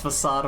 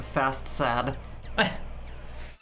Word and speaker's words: facade: Because no joke, I didn't know how to pronounce facade when I first played it. I thought it was like fast sad.